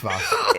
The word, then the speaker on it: Vas: It's Vas.